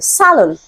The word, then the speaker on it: salon: to this question because the stress is on the first syllable Salon okay so I know